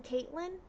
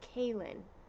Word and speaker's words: Kaylin: A lot of people think that we're just not saying the T, or we forgot to spell it with a T. So they'll be like, you mean Caitlin? Caitlin? No, Kaylin. There's no T in it.